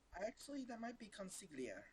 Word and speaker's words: consigliere: Actually, that might be consiglia. Consigliere? Yeah. Yeah, you might be right. Yeah, Yeah, that is it. The GLI is Italian. It's a tricky thing to Yeah.